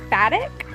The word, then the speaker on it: Batik: And the color we went with was 7602 Indigo Batik. I think that's how you say it. I'm not sure. It's B-A-T-I-K.